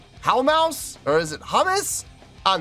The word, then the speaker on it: Houmous: performing a tune called it's not humous it how mouse or is it humus